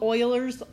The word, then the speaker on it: Euler: this is and I understand it's a weird pronunciation of it but it is called Euler's formula I know that's not what it looks